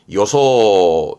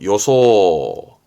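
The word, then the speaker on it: 予想: 대표적인게 이겁니다 상상하다 상상 시험 아주 많이 나오죠 발음은 소조 소조 조심하시고 소조 그렇죠 예상하는 거죠 요소 요소 회저 회상하는 회상 카이소 카이소음 감상하는 거죠 칸소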